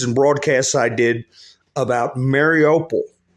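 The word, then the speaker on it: Mariupol: broadcasts I did about Mary opal marry a pole is the other way to pronouncing Mary opal mariopol down in the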